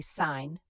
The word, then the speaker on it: sign: Silent G before N. Gnome, gnat, knew, sign, foreign, campaign. Sign, you say sign.